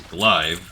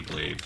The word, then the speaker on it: glaive: whatever reason I I pronounced it as GL and that's just always stuck with me but that is supposed to be glaive so that one I